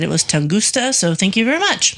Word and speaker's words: Tunguska: So our last Origin of Weird was on the Tunguska event, which is pronounced Tunguska, and I said Tungusta. So there was a person in South Carolina who said it was Tunguska.